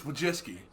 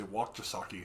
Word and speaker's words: Wojcicki: Okay, it's Wojcicki. That's how you say it, yeah. I was just looked at it and panicked and would just say Wakjasaki and then just move on.